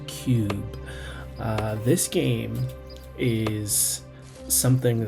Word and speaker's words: Cyube: we're looking at Cube VR that's right it's pronounced Cube uh this game is something that I was